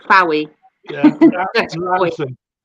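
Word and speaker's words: Launceston: People don't know how to pronounce Foy. Yeah, Foy. Yeah. It's like Fowy. Yeah. That's Lanson. Lanson, that's it, and Snozzle.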